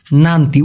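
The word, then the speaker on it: nanti: নান্তি উচ্চারণটা হবে ন আকার ন তয় রশি।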